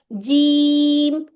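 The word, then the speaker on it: جيم: जैसे अब मैं आपको अगर कह रही हूं जी के अंदर आपके होंठ ऊपर नहीं उठने चाहिए। सिंपल हंठ ऐसे ही रहने चाहिए चाहिए और जीम ऐसे साउंड आएगी।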